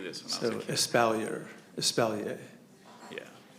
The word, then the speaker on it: espalier: I always wanted to do this when I was So, espalier. Yeah. E S P A L L I E R. How's it go? Espalier or Espalia is spelled especially.